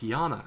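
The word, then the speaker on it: Janna: got that Jan Jana it's pronounced as a y Jana storm Mage never mind uh no dude it's Jana just believe in me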